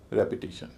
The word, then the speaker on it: repetition: और उससे पहले REP है, उसको फिर भारी बोला जाएगा, उसका उच्चारण भी रेप होगा। रिपीट, रेपिटेशन, reveal, रेवलेशन।